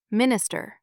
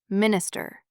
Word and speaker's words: minister: Normally the first syllable of a word is stressed. Listen. Minister, not minister.